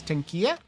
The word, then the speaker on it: Tenkiei: But the proper pronunciation is Tenkiei.